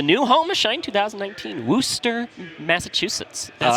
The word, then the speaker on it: Worcester: welcome to the new home of Shine 2019, Worcester, Massachusetts. That's how we pronounce it? Yeah, I had to ask the bartender yesterday just to make sure I wasn't mispronouncing it. They call it Worcester here.